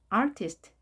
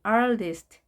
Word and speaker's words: artist: artist, artist 또는 artist. T 발음을 약하게 발음하는 이 부분이 있었죠.